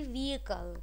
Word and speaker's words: vehicle: व्हीकल कोई भी बच्चा आपसे नहीं बोलेगा, इट इज़ my humble request all ऑफ यू ऑल, the actual pronunciation would be व्हीकल, ठीक है।